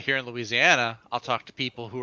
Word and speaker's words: Louisiana: the very fact that you say louisiana in five syllables doesn't sound like you're